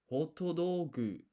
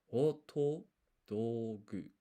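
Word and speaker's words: ホットドッグ: I want to point out here, you got these sokon, half size 2, so they act as pauses. So this is hotodogu. Hotodogu. I believe, for the pronunciation.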